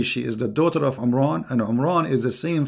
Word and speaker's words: Imran: my Mary is not Imran secondly he could not pronounce the name correctly of the father of Moses and Aaron because his name is Imran so the last letter is M not in so the foolish Mohammed